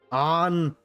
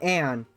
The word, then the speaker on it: Ann: It's on, not Anne, correct?